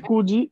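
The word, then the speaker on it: 九時: Este Kuji es lo mismo que Yoji, ¿no? ¿Cuál es la pronunciación normal de 9? Kyudes, hay Kyudes, ¿no? Y en este caso tenemos Q, que es distinta.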